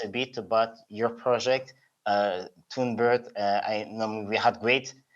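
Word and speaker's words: TunBERT: And so could you tell us a bit more about Tunebird, your involvement, and what actually Tunebird is? If I pronounce it correctly.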